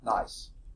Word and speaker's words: gneiss: No, it's nice. The G is silent, okay?